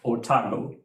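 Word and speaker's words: Otago: have tested this exercise program called otamo right it's uh it's how it's pronounced it's how it's spelled o-t-a-g-o if you go to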